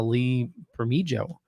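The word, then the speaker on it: Lee Bermejo: in love with the art of uh uh lee for me joe that's how you say his name uh okay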